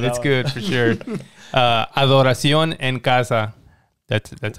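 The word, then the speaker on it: Adoración en casa: with that one that's good for sure uh adoration and casa that's that's how you say it what does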